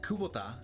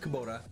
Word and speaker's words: Kubota: I don't even know what JCB is, but I know what Kubota, and by the way, you guys pronounce it incorrectly. It's not Kubota, or whatever you guys say, it's Kubota.